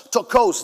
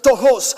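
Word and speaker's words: πτωχός: Él utilizó una palabra distinta y esa palabra se llama tojos. Tokos dicen en inglés algunos, pero es tojos, se pronuncia en griego.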